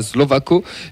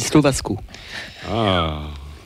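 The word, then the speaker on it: Slovácko: Si je peux me permettre, à mon avis, ça se dit Slovasco.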